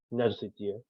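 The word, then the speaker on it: nerdctl: NADCTL is acronym of Container D CTL, but it's pronounced like NADCTL.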